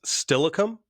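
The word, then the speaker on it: Steilacoom: That and NFL people, it's Stillicum. That's how you pronounce it, not Tacoma area or DuPont. He's from Stillicum.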